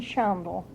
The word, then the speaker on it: Shondle: But Irene Shandel, that used to live in Wabash, How do you spell it? was the Shandel, Yes. How do you know how to spell the last name? Shondle, S-H-O-N-D-L-E.